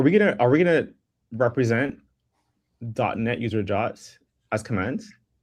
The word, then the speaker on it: JWT: Americans say jot. Actually, I think people have decided that it's jot. I've always just called it a JWT. No, jot. JOT, jot tokens.